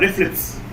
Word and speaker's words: RFLP: to every question cnn rflps are pronounced as uh reflex okay reflex are uh unique